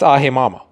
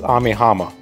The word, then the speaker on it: Amiama: the town of aim I keep saying it wrong it's aimama wait is it Ami amiama what the okay sorry so apparently it's amiama okay let's try that